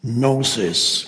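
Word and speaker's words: gnosis: the with the the Greek word nosis which is spelled g n o s i s nosis no knowing sometimes it's translated as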